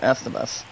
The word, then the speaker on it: Estevez: Not Steve's guys, but Estevez.